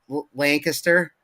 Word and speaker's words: Lancaster: it at first, but like, yeah, don't it's Lancaster.